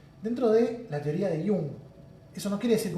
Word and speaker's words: Jung: Sin embargo, Jung, y se pronuncia Jung, y no se pronuncia Yang, ni Jung, porque es suizo, y por eso se dice así, Jung, como si fuera con I latina, así que el que